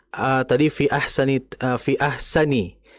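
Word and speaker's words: أَحْسَنِ: Kemudian ee tadi fi ahsani ee fi ahsani itu makai sin ya, bukan fi ahsyani.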